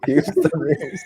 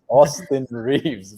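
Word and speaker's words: Austin Reaves: I'll have trouble pronouncing it too. hey Houston. Houston Reeves.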